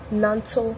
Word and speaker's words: Nantal: And a lot of people don't know how it's pronounced, but it is pronounced Nantal Creations.